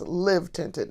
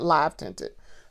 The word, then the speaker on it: Live Tinted: It is pronounced Live Tinted, not Live Tinted.